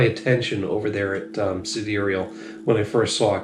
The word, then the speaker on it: Sidereal: in vassel girlo main I say siderial it that's the way they pronounce it as far as I can tell from their menu it looks like side reel but cederal is what it says on the menu and we've got another